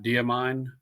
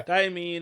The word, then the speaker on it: Diamine: And it's with can never pronounce it right. Diamine, I think. Yeah, damine. That's how I've normally heard it said, but and mine it's uh burnt sienna is what it is.